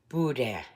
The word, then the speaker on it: boudin: making Budan balls today Budan but really you pronounce it Budan go figure okay so